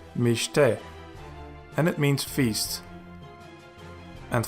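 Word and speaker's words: מִשְׁתֶּה: The BeGaDKeFaT letter is preceded by a schwa, and hence it is a Dagesh Lene. So you pronounce it as mishte, and it means feast.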